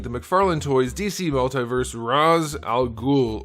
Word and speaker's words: Ra's al Ghul: McFarland toys DC Multiverse Roz Al ghoul or Ray shall ghoul depending on if you pronounce it that way from Arkham City let's do a question of the day I know I've asked this before but I don't know if I ever got a consensus how do you pronounce this guy's name I have always called him Roz and I think that's how they called it pronounced it in the Animated Series where'd they come up